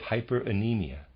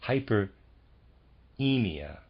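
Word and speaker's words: hyperaemia: the skeletal system and a kind of hyper anemia excuse me Hyper emia would develop in that system I'm going to spell that readers aside h y p r a e m i a I guess it's not anemia it must be hyperemia I'm say okay and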